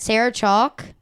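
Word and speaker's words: Sarah Chalke: Sarah Chalk. Is that how you pronounce her name?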